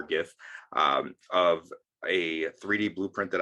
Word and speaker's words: gif: a quick gif and i do say the hard g for gif of a 3d blueprint